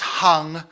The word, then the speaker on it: Hang: don't know the answer to that question it's pronounced hung um i i probably should know but i